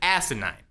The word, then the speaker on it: asinine: if you that's right I said asinine with an emphasis on the first syllable it seems absolutely ridiculous